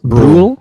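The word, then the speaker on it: Brühl: his name is daniel i think it's pronounced rule yeah it's daniel bruhl yeah dude yeah he's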